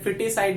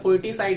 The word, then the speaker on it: foeticide: Side के respect में, फिटिसाइड बोलते हैं, फोर्टिसाइड नहीं बोलते, प्रोनाउंस करते हैं उसे।